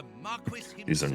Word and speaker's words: Marquis: is just the British pronunciation. They're wrong. It's Marquis.